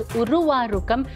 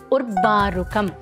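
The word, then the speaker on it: उर्वारुकम्: First mistake is while chanting the first word in the second line, people mispronounce it as urvārukam, which is not even a word in Sanskritam. It is urvārukam.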